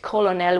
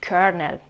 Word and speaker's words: colonel: We got a spelling with an L and a pronunciation with an R. And so today we write it down this way, but we pronounce we don't pronounce it colonel, we pronounce it colonel.